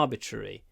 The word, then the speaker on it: arbitrary: is used arbitrary practic think ruri ruri at the end you need to put your lips forward to get a good ruri R arbitrary the next one flies